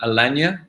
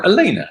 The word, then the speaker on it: Elena: say your name wrong Alania and Elena no Elena that's how it is Elena hi Elena I